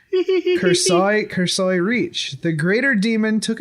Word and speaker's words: Cursori Reach: dead world in the Cursori Reach. That is not how that's pronounced. Cursoi Reach.